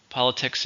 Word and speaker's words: politics: next we have politics politics is everything connected to the government and it's a noun how many syllables to hear politics 3 stress is on the first politics it is not